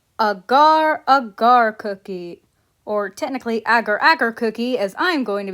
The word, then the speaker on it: Agar Agar: Aar cookie or technically Agar Agar Cookie as I'm going to be calling her. I don't care that canonically they pronounce it Agar Aagar. That's not how you pronounce the name of the ingredient and anyone who wants